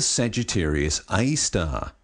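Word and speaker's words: Sagittarius A*: see it is the Sagittarius AAR you're supposed to say AAR but really it's spelled a asteris because it's not exactly a star and you can't see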